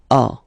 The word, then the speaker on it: as: Okay, as usual in French, final S is not pronounced. Tu as. Tu as.